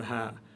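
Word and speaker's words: هاء: Vous avez le alif et vous avez le ha. Et c'est tout en bas de la gorge. Le son part de tout en bas de la gorge, en dessous de la pomme d'Adam.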